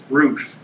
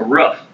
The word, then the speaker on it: roof: Yeah, actually, you know, this the way you say roof, it sounds almost like a short U sound, like in the word rough.